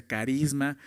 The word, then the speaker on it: charisma: La palabra don que se menciona ahí en griego es es haris, charisma o se escribe chaisma en español, pero se pronuncia carisma.